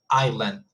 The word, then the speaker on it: island: the the transcription here there is no s whatsoever island see it's the same thing so we don't see any s sound as you can see and we have the accent mark remember at the beginning so it's just island it's not iceland and then we have